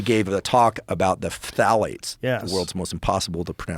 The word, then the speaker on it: phthalates: And she gave a talk about the phthalates, yes. the world's most impossible to pronounce word. Starts with a P. Phthalates. Yeah. It's like ophthalmology.